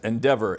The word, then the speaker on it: NDVR: And we're sitting down with Roni Israelov at Endeavor. NDVR is actually how it's spelled.